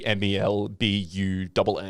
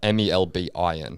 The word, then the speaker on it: Melbourne: you need to tell them it's basically MELBUNN, Melbourne, yeah, MELBIN. not Melbourne. Melbourne, not Melbourne.